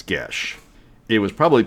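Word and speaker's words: geas: it's spelled g-e-a-s but it's irish which means it never sounds like the way it's spelled so so a little bit of trivia g-e-a-s is not ghias it's gesh it was probably pronounced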